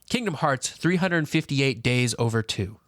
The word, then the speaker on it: Kingdom Hearts 358/2 Days: The way you're supposed to say that is Kingdom Hearts 358 days over 2. That is the proper pronunciation of that game.